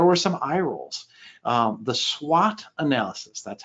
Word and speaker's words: SWOT: The SWOT analysis, that's how you pronounce it.